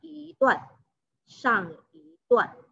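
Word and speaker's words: 一段: Jadi i satu jika berada di depan intonasi keempat, maka i dibaca intonasi kedua. Jadi ini bacanya adalah shang i duan.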